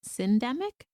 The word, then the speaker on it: syndemic: Yeah, I learned a new word from your work, which was, I think it's pronounced syndemic.